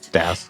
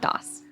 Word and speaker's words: Das: Das. It's pronounced Das, not DOS.